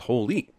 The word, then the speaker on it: Hole: here this seriously also in Norway Harry's last name would be pronounced as Holy but since Americans are